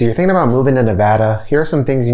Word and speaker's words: Nevada: All right, so the first thing I want to talk about is the pronunciation of Nevada. A lot of people think it's Nevada, but no, it's really Nevada.